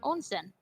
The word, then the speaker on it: onsen: Well, how is it pronounced? I said onsen.